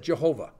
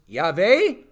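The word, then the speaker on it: Yahweh: Greek into Latin and said Jehovah it's a made-up word by some Roman monk from 15th century or something like that but anyway he he was he tried okay but it's stuck it doesn't work okay but anyway the actual Hebrew is yave all right and in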